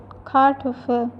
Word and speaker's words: Kartoffel: Fifth is Kartoffel. E is pronounced as A, that's why it is called Kartoffel.